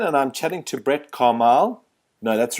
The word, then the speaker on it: Commaille: Hi there, it's Michael Cowan here again, and I'm chatting to Brett Commaille. No, that's wrong. I've said that wrong, haven't I? Commaille, but it's okay.